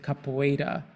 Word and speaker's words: capoeira: completely circular, and it's called Capoeira, and Brazilians pronounce it Capoeira, and it's a game created by his elders